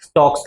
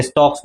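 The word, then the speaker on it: Stokes: रहा है उसको भी स्टॉक्स लॉ. स्टॉक्स लॉ, ये स्टॉक्स लॉ का स्पेलिंग रॉन्ग है, STO के आता है. स्टॉक्स स्टोक्स लॉ, STOKE.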